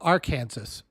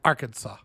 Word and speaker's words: Arkansas: live in kansas but down below it's not called our kansas called arkansas i've always wondered about that